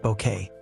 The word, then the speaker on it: Bucket: Patricia as hiestin bucket pronounced bouquet a social climbing supernova whose delusions of grandeur drew 20 million viewers.